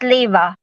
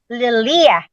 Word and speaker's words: Lilia: oh that makes sense Miss Leva oh miss Leela sorry sorry it's it's really difficult for me to pronounce it's Lilia yeah you can call me Lily